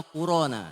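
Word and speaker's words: القرآن: Sebenarnya Quran, tapi di teksnya tuh bacanya Qur'ana gitu ya.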